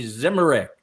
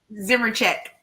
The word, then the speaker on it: Zimmerich: After graduating from the University of Florida, Amy Zimmerich. Did I say it right, Amy? Zimmercheck. Close. Zimmercheck. Oh, Zimmercheck.